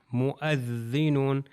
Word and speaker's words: مؤذنون: اس آیت کے اندر مؤذنون، یہ واو تلفظ نہیں ہوگا، مؤذنون، واو کے